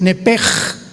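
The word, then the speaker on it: נפש: Neph se pronuncia en el hebreo como JLS, es nepej. Nep. Por eso el Espíritu Santo se pronuncia roaj, se escribe roach, ch. Roaj, el kadosh. Entonces, la sh se pronuncia como J.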